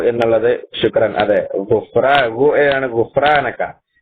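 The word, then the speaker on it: غفرانك: അതെ, ആണ് ഗുഫ്രാനക്ക. അത് നമ്മൾ ഇംഗ്ലീഷിലേക്ക് മലയാളത്തിലേക്ക് മാറ്റുമ്പോൾ നേരത്തെ പറഞ്ഞതുപോലെ പല രൂപത്തിലും ഒരാള് കണ്ടോ ഹുഫ്രാനക്ക എഴുതി, മറ്റാള് ഉഫ്രാനക്കാണ് എഴുതി, വേറൊരാള് ഗുഫ്രാനക്കാണ് എഴുതി. പല രൂപത്തിലാണ് വരാറുള്ളത്. പക്ഷേ ശരിയായ രൂപം അറബി ഉച്ചാരണം തന്നെ വേണം.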